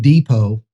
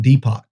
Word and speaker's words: Depot: Case in point, Home Depot is a silent T. But if you're deaf, it's Home Depot.